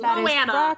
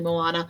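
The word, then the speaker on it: Moanna: It's Moana. Pronounced with a Spanish accent, so I mean, it's still basically Moana.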